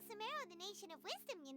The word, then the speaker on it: Sumeru: to Sumeru City and Oh, it's Sumeru. I've been pronouncing it Sumeru this entire fucking time.